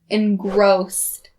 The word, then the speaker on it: engrossed: one is the word engrossed that final s sound is the voiceless so don't say z not correct and notice the word